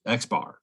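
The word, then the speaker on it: x̄: mean is x with a bar over it pronounced x bar symbol for population standard deviation is a sigma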